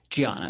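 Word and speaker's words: Diana: Um Giana. It's it's spelled with a D, but she's Brazilian.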